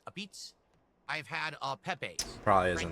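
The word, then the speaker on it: apizza: It's spelled a pizza, but it's pronounced a pizza.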